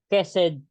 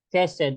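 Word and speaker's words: חסד: po yan sa hebreo ang ibig sabihin po nan ay ked and you can pronounce is you can pronounce as ked Ano po ang spelling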